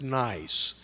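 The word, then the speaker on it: NYeC: from the New York ealth collaborative now that's pronounced nice and the equivalent of myen and New York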